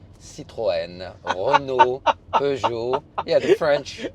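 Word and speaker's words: Citroën: How do you pronounce it? Citroen Reno Bour.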